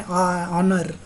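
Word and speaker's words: honour: Same thing an ऑनर, right. अब यहाँ पे हम लोग एच बोलते नहीं है, एच is silent word here, right?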